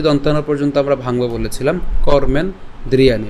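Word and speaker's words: कर्मेन्द्रियाणि: কর্মেন ওযে দন্তান পর্যন্ত আমরা ভাঙবো বলেছিলাম কর্মেন দ্রিয়ানি। বাট আমরা একসাথে উচ্চারণ করব।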